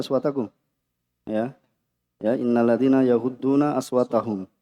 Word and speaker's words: أصواتكم: Tadi apa? Innalladzina yaghudduna aswatahum, ya. Bacanya aswatakum.